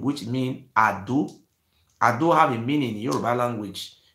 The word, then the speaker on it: Edo: Edo, the full pronunciation of Edo is not Edo, it's called Ado.